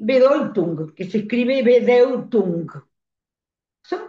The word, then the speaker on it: Bedeutung: Entonces, yo había leído muchas veces esta diferencia entre sin sentido s i n, estamos en el idioma alemán y bedung, que se escribe bedeutung.